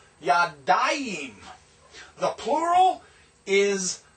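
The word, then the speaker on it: יָדַיִם: The dual is yadayim, yod, comets, dalet, patak, yod, hirek, and final mem, yadayim.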